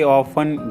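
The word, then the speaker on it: often: अक्सर जाता हूं आई ऑफें go there I ऑफ go there इसमें टी साइलेंट होता है ऑफ में वो मेरे पास से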